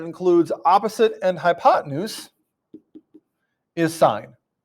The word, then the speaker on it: sine: And so the ratio that includes opposite and hypotenuse is sine. Even though it looks like sin, it's pronounced sine.